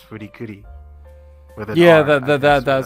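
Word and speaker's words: Furi Kuri: said fully coolly yeah but in Japanese I think they they pronounce as fruity kuri yeah that that sounds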